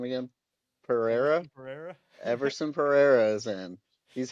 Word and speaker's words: Pereira: Everson Pereira.